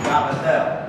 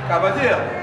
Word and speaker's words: cavatelli: And I told Erica, I said, you know, the way you pronounce that, the Italian is Cavatelli. Right? Cavatelli. Okay. Cavatelli, they say Cavatelli in English.